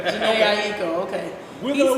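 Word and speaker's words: Jhené Aiko: Jen Akeem. Okay. I haven't heard it pronounced like that, but okay.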